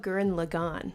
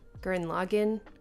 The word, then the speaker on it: Gurren Lagann: Obviously, I noticed Evangelion in the episode, but like I forgot about Gurren Lagann or Gurren Lagann. I don't care how it's pronounced.